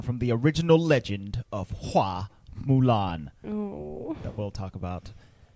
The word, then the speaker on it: Hua Mulan: I think her name in Chinese, like from the original tale, is pronounced Hua Mulan. Fa Mulan.